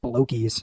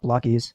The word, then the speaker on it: Blokees: Also, I've always thought it should be pronounced blokies, not Blockies.